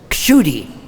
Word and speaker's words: Kshudy: And in Sanskrit, it's pronounced Kshudy, because it's the Ksha letter. It's not Ksha and it's not Sha.